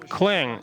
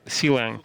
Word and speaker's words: clang: you can use the clang uh it turns out this is the right pronunciation not just not just not cang so anyway uh you